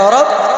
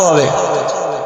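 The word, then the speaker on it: حاء: এটার যেটা নোক্তা নাই এটার নাম হলো হা, গলা থেকে উচ্চারণ হবে হা হা হা হা।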